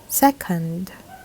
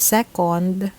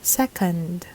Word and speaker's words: second: When you make the proper mouth shape, the letter O sound in English is ah. So this word should be pronounced second, not second. It's second, as in Just a second, please.